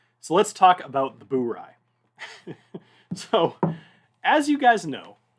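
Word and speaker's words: Bourye: let's talk about the bury so as you guys know bury is spelled b-o-u-r-y-e when i first saw this i did not know that was how it was pronounced in fact i was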